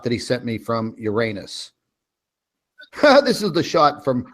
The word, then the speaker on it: Uranus: is the shot that he sent me from Uranus this is the shot from Uranus actually it's pronounced Uranus but that's funny because we can always say